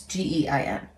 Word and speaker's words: Gein: I don't know how to pronounce it. It's Gein.